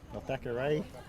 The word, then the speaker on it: Thackeray: Big Jacob Thackeray got in there, and Thackeray, that's how you pronounce his name, got in there to really force Shanks out of the pocket.